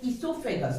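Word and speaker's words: oesophagus: O is silent here. So esophagus, that is the correct pronunciation.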